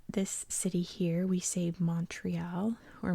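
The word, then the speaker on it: Montréal: city here we saved Montreal or Montreal it's actually pronounced the t is silent because it stands for mountain mountain is mole in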